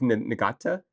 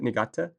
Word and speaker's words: Niigata: It's Niigata, I think is how you pronounce it. Niigata. Niigata.